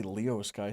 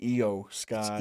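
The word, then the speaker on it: Iyo Sky: I want to say Leo Sky. Sometimes I don't know why. Io Sky. Io. E-I-E-I-E-I-E-I-O. Pronounce the Japanese names correctly and show some fucking respect, goddammit.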